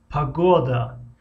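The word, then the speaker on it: погода: Хуб, акнун ударение дар ҳиҷои мобайнро мегирем, ки масалан якум ҳиҷо ударение надорад, охирон ҳиҷо надорад ва ҳиҷои мобайнгӣ дорад. Мисли калимаи пагода, пагода, пагода.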